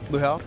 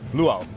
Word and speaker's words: luau: Am I saying it right? Luho. Luau. Lu. That sounds so much better when you do it.